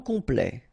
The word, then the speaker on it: complet: Okay, here a T at the end will open it. The sound of the E. So E. Okay, ple.